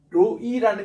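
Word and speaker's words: רֹעִי: 거예요 따라다 로이 로이 그 액센트가 뒤에 있습니다 로이 교회가 아니라 로이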